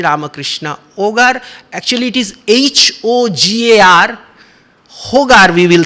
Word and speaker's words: hogar: ogre spiritual destroy ramakrishna ogar actually it is h-o-g-a-r hogar we will say but in spanish h is silent so ogar what does ogre means ogre